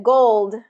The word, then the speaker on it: gold: um more clear but make sure that gold gets that voiced D sound at the end the gold the gold